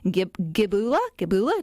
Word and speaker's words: Gibula: Gibula.